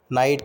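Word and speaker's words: knight: नाइट का pronunciation correct ये होता है नाइट। चेक कर लेते हैं, बिल्कुल सही। इन नाइट बोथ के एंड जी एच is silent are silent. You only say नाइट।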